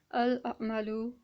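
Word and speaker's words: الْعَمَلُ: That we are going to simply vocalize this lam, and it's going to be pronounced as al-amalu, and well, we are going to vocalize it.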